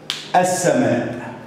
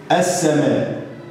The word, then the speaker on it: السماء: السماء. السماء. نطقت الالف مفتوح ونطقت الحرف اللي بعد الالف مرتين اثنين، يبقى لما انطق الالف مفتوح وانطق الحرف اللي بعده مرتين اثنين يبقى في هنا لام.